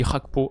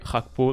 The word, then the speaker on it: Gakpo: à droite et kod rakpo à gauche je sais que certains sont pas très fan de la prononciation rakpo le G en néerlandais pourtant je suis le